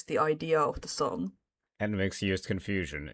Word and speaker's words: NMIXX: Or should I say Nmixx, like people that I love their pronunciation. Nmixx.